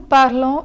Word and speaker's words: parlons: So similar to the silent S in tu parles, the S in nous parlons is not pronounced.